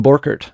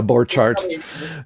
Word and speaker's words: Borchardt: So that's how we say it in the Midwest. If you go to Germany, they say Borchardt. Yeah, Borchardt.